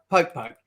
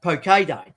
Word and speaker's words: poke: actually international poke day but it's not like poke poke it's actually pronounced poke day and poke day is a hawaiian food and